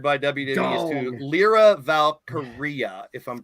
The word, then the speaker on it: Valkyria: Another trademark that was required by WWE is to Lyra Valkyria, if I'm pronouncing it right. Now, a lot of people Valkyrie. No, it's Aria at the end, like diarrhea, like your breath.